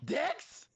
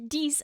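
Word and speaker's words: dix: Dicks. But then it's not pronounced that way.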